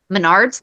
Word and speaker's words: Menards: First one is I want to correct myself on how to pronounce that store that I went to because it's Menard's like Bernard and it's placed through the thing.